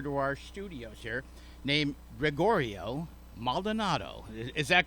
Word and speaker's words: Gregorio: I did Gregorio correctly. Did I pronounce that right? Yes. Yeah, Gregorio.